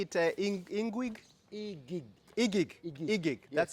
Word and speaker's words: Iguig: Igig. Igig. Igig. Igig. Yes. That's the correct way to say it. Igig. Igig.